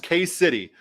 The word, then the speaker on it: Cassidy: Cassidy doing some clarification, pronounced K-City.